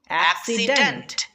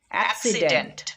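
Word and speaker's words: accident: বা কও করি নাই আমরা একটা সি এর উচ্চারণ করছি ক আরেকটা সি এর উচ্চারণ করছি দন্তস আমরা এ এর সাথে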